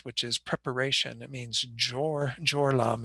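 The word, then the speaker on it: སྦྱོར་ལམ: But bodhisattvas who have entered this path, which is preparation, it means jor lam is how it's pronounced in the Tibetan, jor meaning to prepare, and path, of course, the word that we've been using, lam, throughout this.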